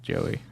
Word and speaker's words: Jowy: They pronounce it Joey. But Okay. then they put it Jowy for the English translation for some reason instead probably of just just a poor making it translation.